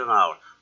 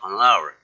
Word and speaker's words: hour: I think it will be more than an hour. More than an hour. 그죠? 왜 언이에요? 거기 H가 발음이 안 나니까 뭐부터 시작하니까 an hour.